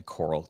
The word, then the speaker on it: Koral: So, you can find me Coral. It's K O R A L. Uh, so it's pronounced like uh under the sea, but spelled totally different.